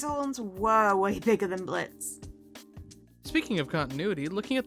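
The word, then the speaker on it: Blitzø: His horns were way bigger than Blitz. Speaking of continuity, looking at the subtitles, we see that in the past Blitz's name is spelled as Blitzo, but presently the O is slashed out since it's silent.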